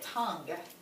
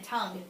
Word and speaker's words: tongue: Look at tongue. Again, tongue. You don't even hear that U sound.